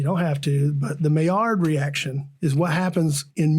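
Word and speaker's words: Maillard: it it's called a meard reaction it's French so it's spelled like male yard like m a i l l a r d but you can look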